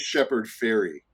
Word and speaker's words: Shepard Fairey: And it is Shepherd Ferry Yes. is how you pronounce it.